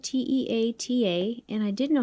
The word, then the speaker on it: Te Ata: was a really pretty name and see how it's spelled t-e-a-t-a and i didn't know how to say it